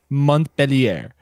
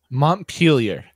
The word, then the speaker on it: Montpellier: If you're speaking an English accent, and I looked up the how to pronounce it, it says Montpellier. Montpellier. Montpellier. Montpellier. That is a very American way to say it, honestly.